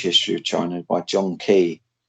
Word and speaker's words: Keay: I recommend a huge history of China by John Key. It's called China. John Like Key, that's spelled Keay. That's the best history of China.